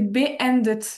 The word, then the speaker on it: beendet: c'est beendet. En fait, c'est comme si ça avait deux mots.